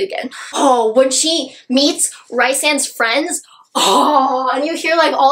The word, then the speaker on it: Rysand: Hey, by the way, I do know it's pronounced Rhys and Rysand, but I will ever and always know Rysand.